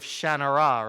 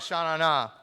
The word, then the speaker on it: Shannara: Although I heard someone who had talked to Terry Brooks say that he pronounces it sort of Shannara, right?